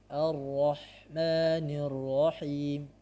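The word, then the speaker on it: الرحمن الرحيم: Jadi harusnya Ar-Rahmanir-Rahim. Seringkali dibaca Ar-Rahmanir-Rahim. Cara mengeceknya adalah dengan mengucapkan huruf-huruf atau membaca Quran dengan menutup hidung. Jika terganggu semuanya, maka ini keliru, cara baca yang keliru. Akan tetapi jika yang terganggu hanya huruf mim dan huruf nun saja, maka bacaannya sudah benar.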